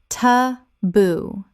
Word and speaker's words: taboo: Ta-boo. Two syllables with the stress on the second. From Tongan via English.